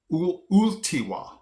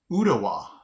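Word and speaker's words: Ooltewah: I would have pronounced this Ultiwa. Ultiwa. Okay? The double O. But it's really pronounced Utawa.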